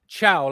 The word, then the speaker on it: Thiaw: By the way, the correct pronunciation of Malik Thiaw, like ciao in Italiano.